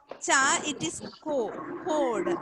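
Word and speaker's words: chord: Code. It don't that R is silent. R is silent, and it is CH is CH is not cha. It is code.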